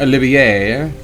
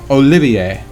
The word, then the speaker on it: Olivier: And no, it's not Olivier. No, it is not Olivier. It is Olivier. The R is silent, because this alias he is using is of French origin.